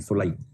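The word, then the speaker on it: soli: इसको जूस कुछ लोग बोलते हैं। कुछ लोग कुछ और उच्चारण करते हैं। सोलाई सोली नहीं सोलाई।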